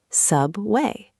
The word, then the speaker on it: subway: Put the strong energy, stress, on the first syllable. Traffic, subway.